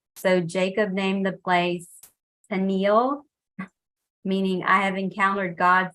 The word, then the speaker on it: Peniel: So Jacob named the place Peniel, meaning I have encountered God face to face, yet my life has been preserved. Did I pronounce that correctly? Yeah, Peniel.